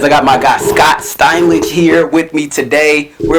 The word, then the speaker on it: Steinlage: Steinlage.